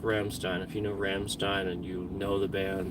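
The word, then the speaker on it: Rammstein: people are like Oh I thought it was romstein no it's pronounced Ramstein if you know Ramstein and you know the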